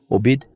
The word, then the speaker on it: Obeid: It is the the latest I guess development in the controversy uh surrounding Sammy, how do you pronounce his last name? Obid.